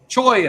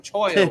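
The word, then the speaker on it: cholla: Cola, like I called it cola forever until the guy's like, choya, huh? You want to look at this? Huh? Ain't that fun? Some choya wood. Huh? So I'm like, oh man, that's how you say it.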